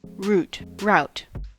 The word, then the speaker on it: route: the thing is that route and root are both accepted ways to pronounce this word in american english it doesn't actually have